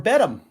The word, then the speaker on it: Beto: Okay, I am basically a volunteer for the Beto campaign to get folks out to vote and to encourage them to vote against Cruz.